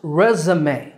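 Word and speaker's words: résumé: E's, and it's pronounced resume in American English. Resume. In British English, it's pronounced resume. Resume. So American resume and British resume.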